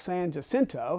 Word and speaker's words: San Jacinto: And he was the one after the Battle of San Jacinto, and that's how Texicans pronounce the name.